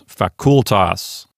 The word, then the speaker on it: facultas: Despite the fact that I want to put the accent on the F-A syllable, really, according to the rules, it goes on the C-U-L syllable. So it's facultas.